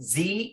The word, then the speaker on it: ze: Next, Z and her. Chris ate her food because Z was hungry. Z is pronounced like Z.